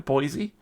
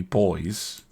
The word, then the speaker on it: Boise: I think that's how it gets pronounced in America. Boise. So it wouldn't be boys. which is how I would pronounce it.